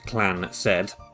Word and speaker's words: Clansid: The Clansid, pronounced Clan-Said, is a highly unusual